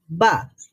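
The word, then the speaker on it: ب: বা, বা। তো বাটা হলো ঠোঁট খোলার সাথে সাথে সাউন্ড বের হয়, আর মিম হচ্ছে ঠোঁট খোলার আগে থেকেই সাউন্ড প্রডিউস হয়।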